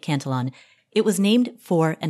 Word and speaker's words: Cantillon: Quick pronunciation note, some people call it the Cantillon effect, others pronounce it the Cantillon effect. I'll be calling it Cantillon.